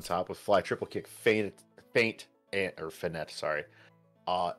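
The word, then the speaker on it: feint: well I think uh I think how this is pronounced as uh faint because it's a it's a fake attack you fake you feign one way and then you do something else uh Sparrow or Lottie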